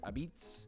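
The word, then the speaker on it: apizza: number 29 Connecticut which they call this New Haven pizza but they also pronounce it abitz I don't know what's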